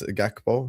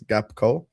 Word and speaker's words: Gakpo: So we're going to be like Gakpo as a striker. The funniest thing for me is the fact that K-Mac cannot pronounce Gakpo. He says Gapco.